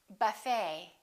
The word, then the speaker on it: buffet: ballet we say ballet a few more ET endings bouquet like a bouquet of flowers Buffet valet and one more Chevrolet we